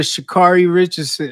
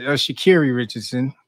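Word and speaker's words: Sha'Carri Richardson: shout out to you then going over to Shakari Richardson shakeri Richardson learning to pronounce these names correctly uh shakeri Richardson BR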